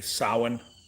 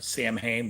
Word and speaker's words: Samhain: I got a Dracula last year, which I love, a 606 Dracula, and I got a Samhain or Sam Hain, but I believe it's pronounced Samhain from Rattray.